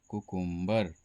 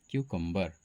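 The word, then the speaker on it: cucumber: कह देते हैं Kuku M बी ई आर कुकुंबर है ना लेकिन कुकुंबर इसका सही उच्चारण नहीं है बल्कि इसका सही उच्चारण क्यू कुबर कंबर यह इसका सही उच्चारण होता है कक्कंबर।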